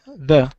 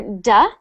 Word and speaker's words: the: The. Yes, I always hear duh, and it's got to be that th sound. And when you make that th sound, stick your tongue out of your mouth like The.